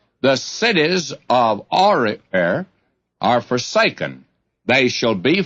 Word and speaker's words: Aroer: Now, I probably ought to go back and give you another pronunciation of that. The cities of Aroer are forsaken. And let's settle for Aroer.